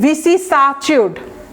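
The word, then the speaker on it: vicissitude: আপনার খুব মনে রাখবেন, ভিসিসাচিউড, ভিসিসাচিউড। এই যে দেখেন SSI আছে না, এইটা কিন্তু সি বলবেন না, ভিসিসাচিউড, TUD আমরা পারি উচ্চারণটা, অ্যাটিটিউড যেরকম লাস্টে অ্যাটিটিউড, ঠিক একইভাবে এটা উচ্চারণটা হচ্ছে চিউড, বাট দেখেন এই যে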